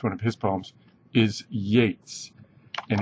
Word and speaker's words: Yeats: of his poems is Yates and it's pronounced like Yates um okay uh the